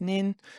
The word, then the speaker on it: Nin: So N is nin.